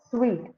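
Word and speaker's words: suite: ma'am sweet yeah exactly it is called as sweet okay sweet pronunciation very good okay so the next one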